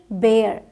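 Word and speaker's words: bare: एयर करके बोलते हैं सो बी ए आर ई बेयर बी बी ए आर बार बोला जाएगा बी ए आर ई बेयर बोला जाएगा ठीक और जगहों पे आपने देखा सिर्फ ए साउंड दे रहे थे हम लास्ट में ई था बट ए आर ई है तो एयर साउंड आता है एम ए आरई मेयर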